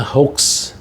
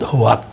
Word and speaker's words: hoax: Ada anu berita tapi enggak benar yang kita menyebutnya hoax. Hoa apa orang Indonesia suka menyebut hoak ya? itu bahasa Inggrisnya kan tulisannya memang hoak tapi bacanya hoa itu menyebabkan dosa bagi